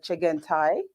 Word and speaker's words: Chengetai: said your name there um in my pronounced pronunciation the chicken thai did i say that right okay yes way